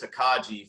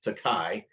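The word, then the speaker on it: Tokaji: it's a c-o-k-a-g-a-i and I think I pronounced it takaji forever but I think they actually pronounce it takai um but this is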